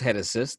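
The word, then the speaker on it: Génesis: guy named genesis cabrera it looks like genesis pronounced head assist the dominican native the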